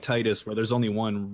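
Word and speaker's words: Tidus: know it's not like Titus where there's only one real way to say it which is Titus obviously and definitely not tiis also as you just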